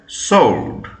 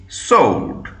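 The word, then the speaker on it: sward: দেখো number S ডব্লিউ এ আর ডি কি উচ্চারণ হবে সোল্ড এস ডব্লিউ ও আর ডি সোল্ড এটা কিন্তু একটা নাউন এবং এর অর্থ কি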